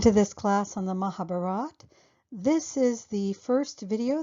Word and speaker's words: Mahabharata: Arjuna, though at times I may slip up and say Mahabharata and Arjuna. In general, I will keep the A gone and say Mahabharat. Knowing this will help clarify for you why I pronounce these words the way I do in this video series. And also please understand that I've chosen the northern dialect because if you are